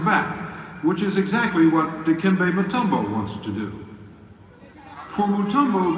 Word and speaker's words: Dikembe Mutombo: Pronounce that pretty close. Yes, it's Dikembe Mutombo, Polano Mukama, Dikembe Mutombo.